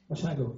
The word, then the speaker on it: Basiago: Basiago, right? Basiago, okay, Italian name.